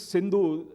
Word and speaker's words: Sindhu: And being an Iranian or a Unani, he could not pronounce Sindhu. He said it is Hindu.